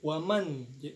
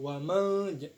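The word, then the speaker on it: وَمَنْ: Nah, di sini ada izhar halki, maka dibaca jelas, bukan ikfa, bukan samar-samar, yaitu waman, bukan wamal, bukan seperti itu. Jadi waman.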